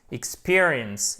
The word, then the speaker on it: experience: Partez toujours de l'accent tonique, ok? Ici, c'est un I court. Vous savez que le I court, il se prononce, on l'a vu et revu ici, presque comme un E accent aigu.